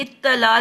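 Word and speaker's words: اطلاع: पहली साकिन है ना इत, दूसरी पे जी, जबर है इत ता जबर। ला आ। इत इत्ता इत्तला।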